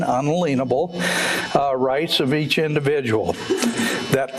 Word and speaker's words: unalienable: Declaration of Independence, the purpose is to protect the natural or unalienable, and that is the correct pronunciation, unalienable, rights of each individual.